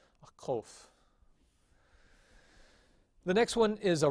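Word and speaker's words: qof: distinguish between the sounds the next sound is a cove it is the q sound and it again will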